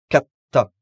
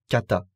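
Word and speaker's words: かった: Pour utiliser l'adjectif au passé, on transformera cette fois le i final en katta. Attention, katta avec deux t et pas kata. Katta.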